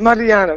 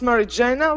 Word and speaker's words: Mariana: Mariana. Very good. Great pronunciation. Usually I'm pronounced Marijana, which is American pronunciation, but okay.